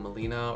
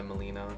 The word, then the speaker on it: melena: talking about color stool, melena or melena, depending on how people pronounce it. I go by melena, but it's just black tarry stool.